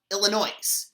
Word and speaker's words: Illinois: yes my name is illinois and i need an airline ticket to um well illinois no the s is silent as the sun set